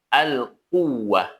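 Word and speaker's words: القوة: Contoh pada huruf wau yang bertasydid pada kalimat alquwah. Alquwah. Nah, ada nama penekanan walaupun tidak terlalu diberatkan.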